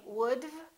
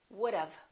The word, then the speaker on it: would've: have known would have don't say would it's would've let's practice that you should